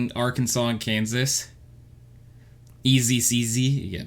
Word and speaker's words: Arkansas: sorry duh archives always spelled Kansas with an AR in front of it but not pronounced similarly at all it's Kansas in Arkansas you say it was